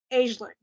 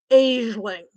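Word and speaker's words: Aisling: i s l i n g that's usually pronounced as aeling aeling because there's a I know this because there's an Irish comedian and actor named aeling be and that's how she pronounces it aeling there might be other ways to pronounce it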